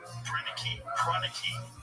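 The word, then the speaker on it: Proenneke: Pranicky. That's how you say his name.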